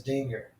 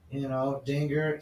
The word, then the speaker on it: Dinger: The mascot's name is Dinger. Which rhymes with singer. Dinger, singer.